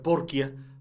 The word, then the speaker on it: Porchia: obras quiero pensar antonio porchia que algunos dicen que se debe pronunciar porque ya porque el apellido es de origen italiano este autor argentino que